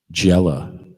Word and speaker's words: Gele: His company is called Gele, Gele. They're on the IG, and it rhymes with Stella.